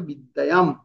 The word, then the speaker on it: বিদ্যায়াং: বিদ্যায়াং যে অনুষ্কার রয়েছে, সেই অনুষ্কার যদি থাকে শেষে, তাহলে সেটা সবসময় ম উচ্চারণ হবে। যেমন উদাহরণ দেওয়া আছে, অন্ধম, অন্ধম থাকলে সেটা হবে অন্ধম, বিদ্যায়াং থাকলে তাহলে হবে বিদ্যায়াম। তো বাক্যের মাঝে কোনো শব্দের